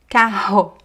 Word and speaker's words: carro: But then also between two vowels, we have two r's. And here again the sound goes back to the throat. Carro, correr, sorriso.